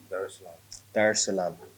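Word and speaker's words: Dar es Salaam: the 7th to come straight to um tanzania darsalam did i pronounce that right yes that's it okay cool there's salam okay it's a beautiful uh city by the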